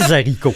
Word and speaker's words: haricot: La façon correcte de le dire serait les hibou, les haricot et de très grande hauteur. Pas de l apostrophe, on prononce pas la liaison.